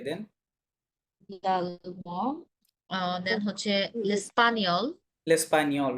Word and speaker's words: l'espagnol: জিএন মাঝে থাকলে বলছিলাম নি হবে, তাই না?